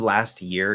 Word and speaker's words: last year: It becomes a CH because T plus SH is CH. Last year. So it's an S. It's still an S.